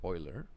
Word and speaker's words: Euler: It is pronounced Euler.